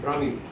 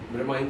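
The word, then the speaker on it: Bramine: Brahmin, B-R-A-M-I-N. Some people they pronounce like Brahmin, so it's not Brahmin. We spell B-R-A-M-I-N-E, Brahmin Solutions.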